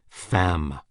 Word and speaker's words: femme: Femme, woman, rhymes with infâme, infamous.